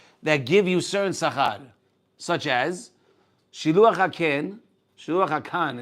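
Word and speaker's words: שילוח הקן: Shiluach hakan is the right way to say it, and kibud avayim is arichut yamim.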